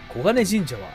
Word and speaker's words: 金神社: たいと思います金神社キンっと書いて黄金と読むのでそのは